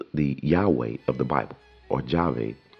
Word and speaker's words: Yahweh: with the name Jehovah the three-syllable name Jehovah where just on a basic level the god of the Bible Yahweh did not have three Bible and didn't have three syllables it was just two I think it started